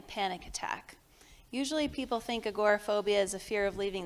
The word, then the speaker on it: agoraphobia: Is there any relation with, and I might not be pronouncing it right, okay, anxiety, OCD, what about agoraphobia? Agoraphobia? That's it.